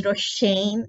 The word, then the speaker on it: Roshayne: I use this as well my name is roshane and it's not difficult to pronounce hypo uh not really difficult but then